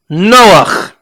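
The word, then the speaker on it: נח: Noah is spelled Nun Chet. Go ahead and say it along. Nun Chet. Noach.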